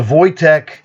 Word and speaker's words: Wojtek: Now, does a Wojtek, and that is the proper pronunciation of his name.